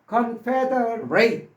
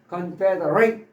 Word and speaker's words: confederate: 두 번째 confederate, at입니다. 또 이것도 at는 ace로 발음할 수도 있고 it으로 발음할 수도 있다고 그랬습니다.